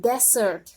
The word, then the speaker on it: desert: Desert atau gurun pasir. Not desert ya, but desert, gurun pasir.